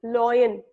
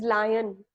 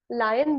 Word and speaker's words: lion: People often pronounce lion as loin. It is not loin. It is lion. Lion will be the correct pronunciation.